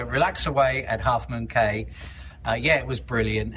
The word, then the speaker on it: Caye: Away at Half Moon Caye. And it I only remember it because it rhymes. Right. So, Relax Away at Half Moon Caye.